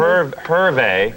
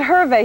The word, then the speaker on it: Hervé: Hervé. Why is it Hervé? He's French, yes? Yeah, but you pronounce the H. It's like, it's not like hors d'oeuvres or something. It's the opposite.